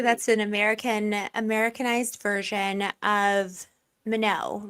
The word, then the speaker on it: Minot: But the thing that drives me crazy is it is pronounced Minot, but it's actually like a French word. Like I want to pronounce it Minot, and it makes me mad.